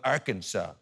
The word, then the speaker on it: Arkansas: but it's spelled arkansas there's an s where there should be a w where's the w where's